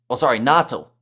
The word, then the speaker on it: Natal: or they then say Natal. That's how you pronounce, Natal. Okay, so without the A in there, a little bit.